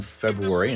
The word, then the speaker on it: February: Pronounce the R in February and don't pronounce the